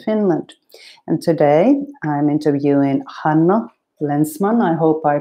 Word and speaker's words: Hánno Länsman: based in helsinki finland and today i'm interviewing hannah lensman i hope i pronounced your name correctly that's correct thank you